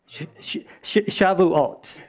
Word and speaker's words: Shavuot: Is that how you say it, Lee? Shavuot. S-H-A-V. Yeah, Shavuot. That's how you would say it in Hebrew.